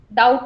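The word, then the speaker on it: doubt: डाउट में same चीज, बी का साउंड नहीं आता आपका, डाउट, डाउट नहीं होता, डाउट होता है, बी साइलेंट रहता है आपका।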